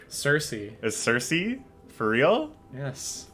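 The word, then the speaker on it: Circe: Look at how it's spelled. Learn other languages. What was the other one today? Cirque? Cersei.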